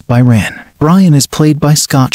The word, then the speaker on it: Brian: Brian is pronounced as Byron.